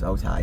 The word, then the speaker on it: Otay: It's Otay. It's spelled the same way.